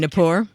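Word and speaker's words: Gnapoor: Kevin Kevin Napor. Yeah, Kevin the G Napor? is silent when I sneak in your door.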